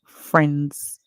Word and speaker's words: friends: we said that friends the i in friends it's silence so we hear the F and R make the song F then we see the small word ends friends and your friends of